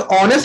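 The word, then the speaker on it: honest: Because ऑनेस्ट में S silent होता है, तो यहां पर इन बातों का ध्यान रखेंगे।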